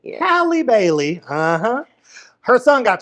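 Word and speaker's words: Halle: wrong haly Bailey because it's not haly because is it haly it's hi Bailey yeah Hy Bailey uhhuh her son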